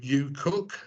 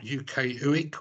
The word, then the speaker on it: UKUEQ: So you may have noticed I pronounce our group UKUEQ and not UKUEQ or something like that.